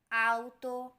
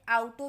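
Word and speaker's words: auto: next one इज आतो आतो इसका मतलब है गाड़ी लेकिन बहुत सारे लोग इसे आउटो भी कहते हैं तो इसलिए यह थोड़ा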